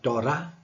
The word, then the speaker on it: Torah: For example, when you say the word Torah in English, in Hebrew you don't pronounce the th like the English would do. So it would be something like Torah.